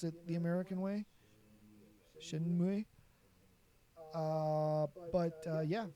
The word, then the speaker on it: Shenmue: I never got into Shenmue. I even said it wrong the first time because I pronounced it the American way. Shenmue.